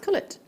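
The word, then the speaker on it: culet: It's pronounced cullet. That was something they covered in the gemology qualification, and that was the first, because I've been calling it Kool-Aid for years. No, cullet.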